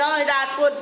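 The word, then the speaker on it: Hariharpur: Now Haryarpur over here, Hirarpur, these are the two names which has been taken for one place. Some people used to take the pronunciation as Hirarpur and some people take it at Haryarpur. I repeat, Haryarpur or Hirarpur. Now at the Basra in Odisha.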